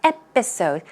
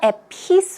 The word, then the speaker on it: episode: episode just in case the stress goes on the first syllable its episode not at peace oh dude it's a